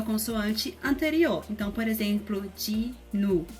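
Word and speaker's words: 진우: Então, por exemplo, Ji-nu. O hangul dele é Jin, U, mas na hora de pronunciar, você pode pronunciar como se fosse Ji-nu.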